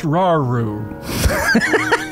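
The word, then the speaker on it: Rauru: It's pronounced Raru. Forgive me Raru.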